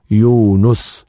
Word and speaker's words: يونس: ترى مين ده سيدنا يونس عليه السلام بالله عليكم لاحظتوا النطق الكلمه بازاي بيتنطق ازاي يونس عاوزك تركز ان في اثنين انبياء يوسف بلازم تضم السين يوسف ويونس ما تقولش يو س